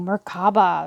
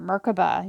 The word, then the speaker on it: Merkaba: Ooh, Merkaba, or Merkaba, you can pronounce it either way.